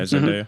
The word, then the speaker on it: Zendaya: Zendaya, is that how you say her name? Yeah, Zendaya.